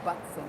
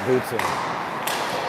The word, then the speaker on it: Butson: Keenan's last name is pronounced Butson, not Butson. Oh, okay. So Keenan Butson, not Bootson.